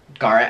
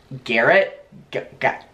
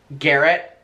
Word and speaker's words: Garrett: immediate life that are called Garett and I pronounce it Garett and they do as well I think it's like European we pronounce a gar but I know that everyone says I should be pronouncing it Garrett Garrett but and I'm not trying to be